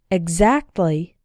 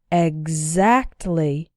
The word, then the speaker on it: exactly: should be expain explain the other way to pronounce X is like gz G as in the following words listen and repeat exactly example exam exhibit exotic